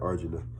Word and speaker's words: Arjuna: in Arjuna, and that's how you say it, Arjuna, and the three worlds, the hellish planets, the I guess you call it the material world planet, and then the heavenly planets.